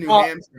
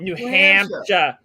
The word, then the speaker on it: New Hampshire: You call it New Hampshire. New Hampshire. That's not how you say it. It's New Hampshire.